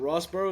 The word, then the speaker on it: Rosborough: just age 16 Rosboro how you doing man good bro good how are you I'm chilling how's the pronunciation is it Rosboro is that good yeah that's actually perfect bro come on come